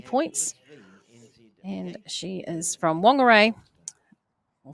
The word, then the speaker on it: Whangarei: And she is from Whangarei, or Whangarei, I should say it properly, Dana.